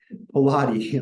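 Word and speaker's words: Pallotti: is okay father Vincent Pilates okay father Vincent spelled like I'm not gonna spell Vincent for you you're Americans um Pilates also straight for it um ready Pilates x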